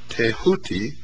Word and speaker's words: Thoth: Egyptians as the ibis-headed scribe of the gods Thoth, pronounced Tehuti.